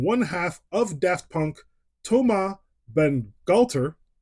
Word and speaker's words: Bangalter: half of Daft Punk, Thomas Bangalter. Yeah, that's the right way to say it. Without the French accent, I'm not going to try and do that.